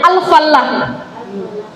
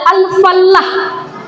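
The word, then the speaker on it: الفلّاح: Alfalah dan alfallah. Alfalah dan alfallah itu mirip, Ibu-ibu. Mirip penyebutannya karena memang mirip tulisannya. Yang membedakan satu bertasydid, satu tidak bertasydid. Bila bertasydid, maka dia bacanya adalah alfallah, artinya adalah petani.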